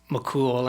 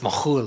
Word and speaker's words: McKhool: jigs and reels but actually mccool would have been pronounced mohul in kafir mishki lebanon where my ancestors are